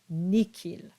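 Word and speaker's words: nihil: to this Rule and it's in two cases where an H is followed by an i and it's these two words that are pronounced Miki and nikil next we have the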